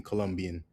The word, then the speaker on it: Colombia: Colombia is pronounced in Colombian. Colombia, Colombia, Colombia. Emphasis on the third syllable.